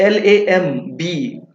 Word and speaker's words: lamb: Silent होगा। Next LAMB, लैम्प की लैम्प।